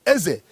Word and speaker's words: Eze: is called a king, Eze. They pronounce it A-E-Z-E, Eze, in Ibanke, in Edo State.